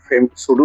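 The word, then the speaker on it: pseudo: পির উচ্চারণটি হয় এস দিয়ে আরম্ভ এস এর উচ্চারণ দিয়ে আরম্ভ হয়েছে এস ইউ ডি ও শুডু ফেমিনিস্ট বা সুডু ফেমিনিজম সুডু ফেমিনিস্ট অর্থাৎ ভন্ড নারীবাদী বা সম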